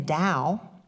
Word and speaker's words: Tao: In the Tao, which is a spiritual philosophical tradition that comes out of China, the Tao or the Tao, you may have heard it pronounced either way, D-A-O or T-A-O, literally that word means the way.